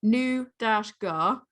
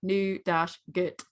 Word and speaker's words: nougat: No, but the British pronunciation is different. It literally is British pronunciation new-gar. Yeah. US American pronunciation new-gut.